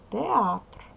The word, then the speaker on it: театр: слова правильно це слово театр Подивіться як воно пишеться запам'ятайте його словничка слово нашого порахуйте скільки складів правильно який склад наголошений Перший чи другий правильно наголошений другий склад АТР добре каліграфічна хвилинка